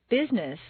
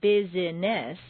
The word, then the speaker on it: business: syllables on page 18, some words appear to have three or more syllables, but all of them are not actually spoken. For example, business is not business, but rather business.